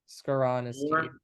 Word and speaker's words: Skoronski: Skoronski.